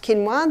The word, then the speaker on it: quinoa: become familiar with it's spelled quoa but it's pronounced kinoa the Aztecs love their quinoa Aussies is starting